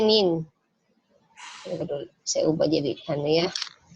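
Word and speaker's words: 您: Ini bacanya nin. Saya ubah jadi ya. Ini bacanya nin, N-I-N ya. Untuk tonsnya ini tonsnya nada kedua ya, tonsnya nada kedua.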